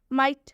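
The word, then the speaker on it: might: माइट में भी वही है। जी एस टी आया है लास्ट में इसलिए एच का उच्चारण नहीं हुआ है।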